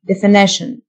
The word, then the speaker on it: definition: define define تعريف definition T-I-O-N تنطق شن definition محدد أو معرف defined